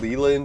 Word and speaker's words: Leland: I usually pronounce it Leland when I'm introducing it to someone because I'll say you could say for short.